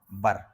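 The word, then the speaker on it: were: अब कुछ लोग इसी को वेयर बोलते हैं। ये जो वर है कुछ लोग इसको क्या बोल देते हैं, बेयर इसको, जबकि इसको बोला जाता है बर।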